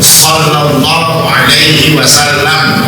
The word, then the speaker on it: Sallallahu Alaihi Wasallam: masuk ke dalam air nama nabi harusnya diucapkan yang betul Sallallahu Alaihi Wasallam kan Jangan salam jangan Asalamualaikum jangan g kan ini Gak betul seperti itu karena sebetulnya